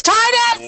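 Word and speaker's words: Tidus: people mispronounce character names like tetus in Final Fantasy 10 it's Titus shut up it's Titus well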